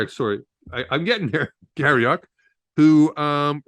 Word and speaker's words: Garrioch: special guest today calling garroc Gary did I pronounce it right garyock yes sorry I'm getting there Gary Oak who um it's really relates to the conversation